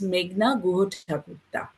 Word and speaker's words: Meghna Guhathakurta: Okay, my name is Meghna Guhathakurta.